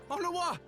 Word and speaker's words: Honroy: Honroy! That's how you say it. I said it right the first time then. Shit! I used to call him Honora. I was saying it right. No! What have they done to you? Honroy! Honroy! A bit of a W sound on the R, though. It almost sounds like it.